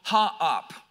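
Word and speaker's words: Haap: It was a god called Ha'ap. It's H-A-A-P, but it's actually two separate syllables.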